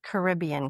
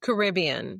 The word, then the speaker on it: Caribbean: I'm going on, now I can't even think, Caribbean cruise. Caribbean.